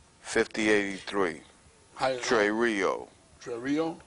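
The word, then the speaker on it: τηρέω: Trey Rio 5083. Trey Rio. Trey Rio. Right. It's spelled T E R E O. Okay. But the way it's pronounced, it's T A Y R E H O.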